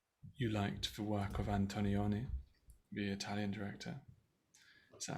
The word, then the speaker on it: Antonioni: said you were you liked the work of Antonioni, the Italian director. Is that how I pronounce his Yeah. name? Sorry, I'm not sure if I Yeah. Antonioni, yeah.